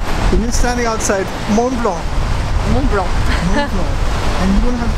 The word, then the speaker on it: Mont Blanc: It's Mont Blanc. And you're standing outside Mont Blanc. Mont Blanc. Mont Blanc. And you don't have to pronounce the T in that.